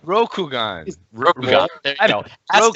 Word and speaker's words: Rokugan: Is that how you pronounce it? Rokugan. Rokugan.